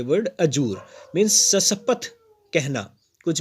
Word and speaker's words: adjure: इसका प्रोनाउंसिएशन है Azzur, ADJURE, Azzur.